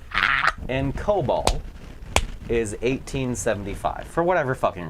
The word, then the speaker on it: COBOL: they use this thing called COBOL. COBOL. Are which, you? If you watch Fox News, they're calling it Cobalt.